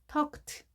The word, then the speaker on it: talked: 따라서 이 발음도 트로 발음이 됩니다. 그래서 talked, talked로 읽습니다.